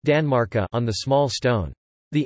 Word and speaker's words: tanmarkar: Danmark on the large stone, and genitive Tanmarkar, pronounced Danmarka on the small stone.